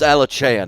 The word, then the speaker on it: Alachan: Well, it's Alachan. Make sure you pronounce it CH.